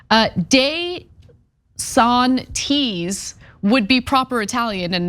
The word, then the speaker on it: DeSantis: He's the chair of Italian studies at Seton Hall University, who was actually shocked at the use of Dee-Santis. Deh-Santis would be proper Italian, and no one's gonna say that.